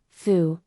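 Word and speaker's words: 蝠: flying bats a bat foo is a visual pun for good fortune or happiness foo because both characters are pronounced the same and the right part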